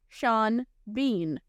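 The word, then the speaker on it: Sean Bean: show REM makes for his name not rhyming as it should his first name is spelled s a an and his last name is spelled b e a an and it's pronounced Shan Bean his punishment in life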